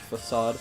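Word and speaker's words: façade: handful not a lot of people know it's pronounced facade you'd be surprised well ago steam sauna was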